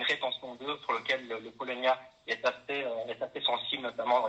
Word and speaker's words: Paulownia: C'est clair, le Polonia, donc ça s'écrit Paulownia, un arbre, une essence à découvrir, et donc c'est ce que vous utilisez pour vos collaborations avec les agriculteurs.